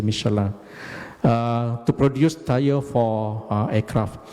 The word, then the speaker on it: Michelin: At that time, the MIB also produced in collaboration with Michelin, or actually the right pronunciation is actually Michelin, not Michelin, it's actually Michelin, to produce tire for aircraft.